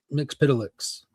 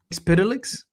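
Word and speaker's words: Mxyzptlk: How do you pronounce Bunny's name? Metuplex. That's how you mix Pitilix. Mix Pitilix.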